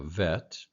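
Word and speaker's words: ב: The only 3 letters that are changed are the bet, which becomes a V, a vet, the kaf, which becomes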